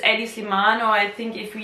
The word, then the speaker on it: Hedi Slimane: main or eddies lemon if we pronounce it like the french people who do not see the letter age as a respectful letter so they don't pronounce it at the beginning beginning anyway it's eddie sliman or i think if